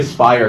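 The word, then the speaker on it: Speyer: I'll say Spire because it rhymes with Meyer.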